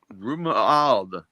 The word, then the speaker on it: Romuald: Romuald. Romuald. Ro, like row. Yeah. Mew, like a mew.